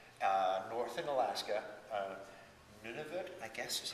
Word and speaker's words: Nunavut: greenland nova scotia uh north and alaska uh nunavut i guess is how you say the new